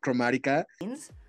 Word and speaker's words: Chromatica: There's also like a famous clip of her talking to Lady Gaga, interviewing her about Chromatica.